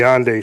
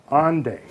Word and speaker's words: Hendaye: rest of the story of Fulcanelli and the Hendaye stone.